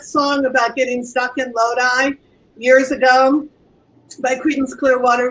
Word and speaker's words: Lodi: It is Lodi. It is not pronounced Lodi, as some people I've heard pronounce it. It is Lodi.